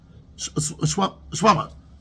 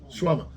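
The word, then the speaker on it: shawarma: Shwama. How do you pronounce it? There's an R there, right? Shwama. There's an R there or no R? Yeah. There's R. You don't pronounce it so much. Shwama.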